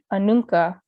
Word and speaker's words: Anoka: There's so many cities and places in Minnesota that the names were originally Dakota and have been anglicized. Anoka, Anunka, which means on both sides. Chaska. So sorry if I'm saying these weird, it's after learning the Dakota pronunciations, it's hard for me to go back to the English, I guess, pronunciation, the anglicized pronunciation.